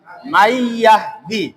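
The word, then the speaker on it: من يهدي: মিম ইয়া জবর মাই, ইয়া হা জবর ইয়া, দাল জের দি, মাই ইয়াহ দি। নুনটা আমরা ধরিও নাই পড়িও নাই।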